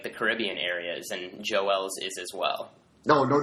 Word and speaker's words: Joel: have to correct you it's Joel yeah which I know I have troubles pronouncing my L the extra syllable definitely from the from the French background up in Quebec yeah Montreal baby and